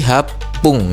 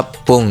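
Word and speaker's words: はっぷん: Nah, ketika dia disebutkan sebagai menitannya ini maka dia berubah jadi hap pung gitu ya. H se kecil dan pung gitu ya. Jadi hap pung ya. Jadi untuk penyebutan pungnya ini agak ditekan ya. jadi hapung gitu ya.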